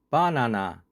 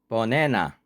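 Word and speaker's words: banana: 발음 기호는 버네너입니다. A에 액센트가 있으면 액센트가 없으면 어로 약하게 발음합니다. 발음 기호 표시대로 하면 버네너. 그런데 미국인은 버네나라고 발음합니다. 발음 기호는 버네너이지만 실제로는 버네나로 발음합니다. 바나나, 버네나.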